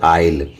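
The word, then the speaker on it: isle: सो बताते हैं आई और एल के बीच में अगर एस जो है आ जाए तो उस एस को क्या कर दिया जाता है? साइलेंट किया जाता है। नहीं बोला जाता है।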